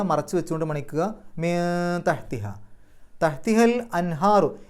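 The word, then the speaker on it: أنهار: വസിൽ ആയതുകൊണ്ട് അൽ അൻഹാറു ഹാന്റെ മുമ്പ് സുക്കൂനെ നൂന് ഇളഹാർ ചെയ്യുക വെളിവാക്കി പറയുക അൻ എന്നുള്ള ശബ്ദം പുറത്തേക്ക് കേൾക്കണം അൻഹാറു അപ്പൊ മസാക്കിന അവിടെ തൻവീൻ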